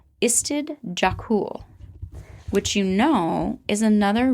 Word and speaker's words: Istid Jokul: And then on the dog collar, it also says Istid Jakul, which you know is another research center up here. Can you say the name of that research? Istid Jakul.